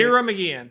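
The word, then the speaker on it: Ciara Mageean: Sierra McGeehan of Ireland, how do you say Kira McGeehan.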